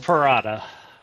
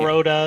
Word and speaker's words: Perrotta: Perrotta is usually the most common mispronunciation, but it's like Prada, the brand, but like kind of stretch it out a little.